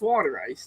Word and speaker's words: water ice: what I'm saying like it's water ice that's how it's supposed to be pronounced she does outstanding videos